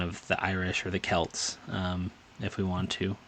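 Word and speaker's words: Celts: for the audio listeners, the word is C E L Ts. I googled how to pronounce it and what I discovered is that the answer is like definitely Kelts unless like you're talking about like the Celtics like the basketball team.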